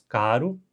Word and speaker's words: caro: Um clássico exemplo de contraste entre os dois são com as palavras caro, com R fraco, e carro, com R forte.